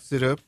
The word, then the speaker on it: Tsuda: And that's Tsuda? Yes, Tsuda. With a T. With a T. Because I know Brian Tsuda, who is our photographer, but it's just S-U-D-A.